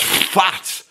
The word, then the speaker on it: phat: And in that way, I would describe his base playing as fat. Yes, fat. Not fat. And I'm I apologize if I didn't pronounce it properly, but fat is pronounced like fat.